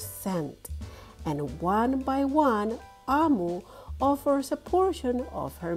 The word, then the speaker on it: Omu: author's note explains that AMU pronounced AMU means Queen in the Igbo language of her parents but growing up she